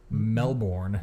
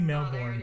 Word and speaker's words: Melbourne: Melbourne. Definitely Melbourne. Oh, there it is. You got that hard R in there.